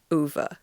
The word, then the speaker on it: Ove: pronunciation right this time it's like Hoover but without the H A Man Called u u I think that's